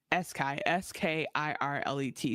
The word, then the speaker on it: Skirlet: It's spelled Skirlet, by the way. It's sky. S K I R L E T. Skirlet.